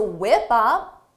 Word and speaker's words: whip up: Give me 20 to whip up. Whip up is a phrasal verb. For the pronunciation, notice: whip up. Whip up. Whip up. Because of linking, whip up.